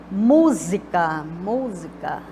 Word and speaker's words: música: Música, música, olha só, mu. Aí eu tenho última, penúltima, antepenúltima. Então, ela é proparoxítona.